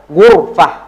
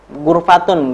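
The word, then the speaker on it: غرفة: Ghurfah. Ghurfah. Nah, jadi jangan ghurfatun, enggak ya.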